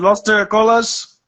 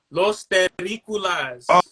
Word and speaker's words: Terrícolas: Is it Los Terracolas? Los Terrícolas. Oh yeah, my bad, man. My bad. Yeah, I think that's how you pronounce it, right? Terrícolas. Yeah, Los Terrícolas.